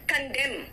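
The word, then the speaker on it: condemn: कंडेम बेटा am silent है यहां पे।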